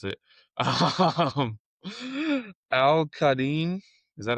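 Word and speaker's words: Al-Quadin: Um, Al Qadim. Is that how you pronounce it? Yeah, Al Yeah. Qadim. Yeah. Al Qadim Muhammad.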